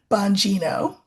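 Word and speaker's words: Bongino: So, are you happy I'm pronouncing it the way you want me to pronounce it? Banino.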